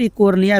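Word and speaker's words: Eichhornia: तो यहाँ पर देखेंगे एकोर्निया क्रॉसिपस दिया गया है, यहाँ पर इकोर्निया भी दिया रहता है। तो इकोर्निया भी यहाँ पर इसका प्रोनाउंसिएशन यानी उच्चारण होता है, जिसे हम लोग जलकुंभी के नाम से जानते हैं।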